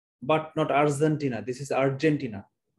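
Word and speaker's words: Argentina: নট আর্জেন্টিনা, this is আর্জেন্টিনা। আর্জেন্টিনার ক্ষেত্রে জ উচ্চারণ হবে বর্গীয় জ, কিন্তু যখন ব্রাজিল উচ্চারণ করবেন, ট্রাপিজিয়াম উচ্চারণ করবেন, তখন উচ্চারণটা হবে জি, জ, জেড এর মতো।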